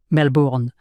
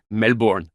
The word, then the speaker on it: Melbourne: Vous ne prononcez pas les R. Melbourne. Melbourne.